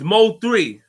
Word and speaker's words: MO3: sticks with me today you saying this mo is not emma what is it am i saying it wrong which is it mo par me it's mo 3 sorry part of me